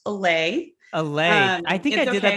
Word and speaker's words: Allay: and ceo of alley consulting yeah it's actually pronounced alley i think i did that the first time